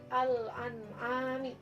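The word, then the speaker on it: الأنعام: Contohnya dari alif lam qamariyah yaitu yang pertama al-an'am. Nah, di sini alif lam ketemu dengan huruf alif. Nah, di mana alif ini termasuk dari huruf qamariyah, maka dibacanya jelas. Alnya dibaca, lamnya dibaca. Al-an'ami.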